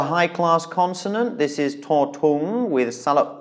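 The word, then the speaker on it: ถูก: So tu, it's a high-class consonant with a long vowel but then a stop final, which means it is a dead syllable, which means it is a low tone.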